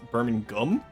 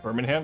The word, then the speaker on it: Birmingham: from Birmingham once where she was very insistent that it's pronounced Birmingham and not like Birmingham because I said Birmingham the first time, right?